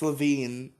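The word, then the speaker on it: Lavigne: punk I don't care it's LaVine it's just okay I've been saying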